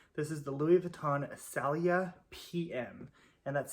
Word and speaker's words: Saleya: written right here this is the louis vuitton salia pm and that's spelled s-a-l-e-y-a like i said i'm probably saying